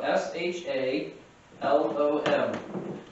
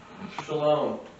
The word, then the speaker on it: shalom: in looking at Strong's and the Hebrew word is spelled uh s h a l-o-m and it's shalom I mean even people say